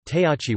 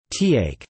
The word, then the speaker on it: तयाचे: In Devanagari, consonant letters by default come with an inherent schwa. Therefore, tayachi will be tayak, not Tak. To form tak, you will have to write it as t plus yachi, giving tayachi.